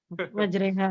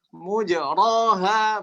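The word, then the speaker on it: مجريها: Majreha ya. Kalau kita kan majreha gitu ya. Tapi dia apa kan? Mendomahkan mim dan memfathahkan ro. Mujroha, begitu bacanya. Bukan majreha tapi malah apa? Mujroha.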